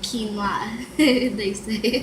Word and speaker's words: quinoa: and women and um and of course you pronounce it wrong and are met with pitch patronizes quinoa giggle whoa it's actually quinoa where is the speaker on here's one say